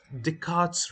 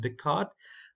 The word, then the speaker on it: Descartes: type way we use Descartes Rule now this is not descarte it's a Descartes uh it's a French name I believe it's pronounced Descartes uh in English and